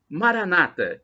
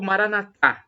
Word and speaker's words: Maranata: o dialeto de Jesus, Maranata, como dizem os protestantes ou evangélicos, nossos irmãos separados, ou Maranatá, com a tônica na última sílaba, como dizemos nós. Nós pronunciamos assim com a tônica na última sílaba e os nossos irmãos separados com a tônica na penúltima sílaba.